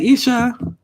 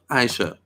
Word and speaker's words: Aisha: So, hey, Isha. Hey, Aisha. Aisha? Is that how you say it? I've been saying it wrong this whole time. Aisha.